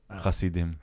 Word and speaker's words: Hasidim: plural, Hasidim.